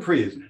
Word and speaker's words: Preise: Preise is co-founder, just the way it's spelled, is co-founder of Counselor Connection LLC.